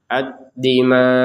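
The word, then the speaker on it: الدِّمَاءَ: Addima. Nah, kemudian huruf hamzahnya tetap kita terbacakan dengan sukun.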